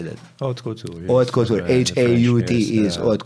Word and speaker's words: haute couture: But jgħidu haute couture is a special category fej involvi ċertu sijat ta' xogħol.